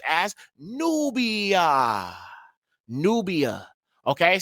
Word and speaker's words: Nubia: But even if you see a V right here, it was still pronounced as nubia. Nubia. Okay, so there's still that ooh sound.